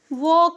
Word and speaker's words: walk: शब्द लिखा हुआ है WALK, वॉक लिखा है, वॉक। तो यल साइलेंट है इसमें, वॉक में यल साइलेंट है। W को हम वा पर लिखते हैं और ए है तो वहाँ पे की मात्रा हो जाएगी और के को हम क लिखते हैं तो हो जाता है वॉक। एल साइलेंट है।